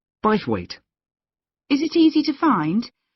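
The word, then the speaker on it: Bythwaite: free and the show is being held in bwe Hall sorry how do you spell that b y t h w a i t e b weight is it easy to find I'm not very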